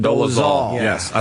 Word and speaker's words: Dolezal: Dolezal.